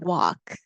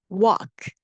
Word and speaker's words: walk: They will walk. 예전에 했었죠. Walk. L 발음 없습니다. Walk.